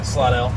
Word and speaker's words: Slidell: Yeah, Slidell.